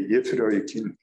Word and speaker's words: Yefroykin: Les gens de la génération suivante l'appelaient déjà Yefroykin. Ouais. Yefroykin, mais c'est Yefroykin. C'est comme ça qu'il faut le prononcer.